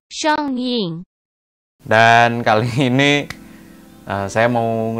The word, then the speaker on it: Xiong Ying: Kalau di video yang sebelumnya kalian udah ngeliatin review saya tentang Rit Xiong Ying yang alto. Bacanya tuh Xiong Ying ya harusnya ya. Kayaknya ya. Xiong Ying.